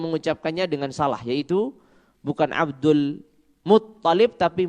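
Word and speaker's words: عبد المطلب: Ta-nya yang ditasydid bukan lamnya.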